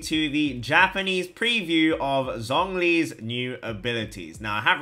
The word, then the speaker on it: Zhong Li: few comments, guys, that I'm not pronouncing Zhong Li like a proper China boy that I am. And I'm sorry, guys, my Chinese is not that good. So my wife will do the honors of pronouncing it properly.